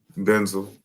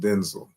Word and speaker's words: Denzel: How is this supposed to be pronounced? Denzel.